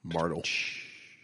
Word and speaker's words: Martelle: Yeah, like the E in my last name. Call back. Martel.